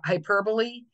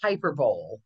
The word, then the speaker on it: hyperbole: hear a lot is, we call it the magic E, the words that end with an E, and they're usually from the Greek, like hyperbole. And again, Ross was saying spelling pronunciation, people see it and think it's hyperbole.